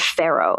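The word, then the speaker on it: Faro: It's called Pharaoh.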